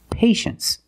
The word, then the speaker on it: patience: we pronounce it well you see t-i-e in the second syllable you know that t is pronounced so this word is patience that's right patience is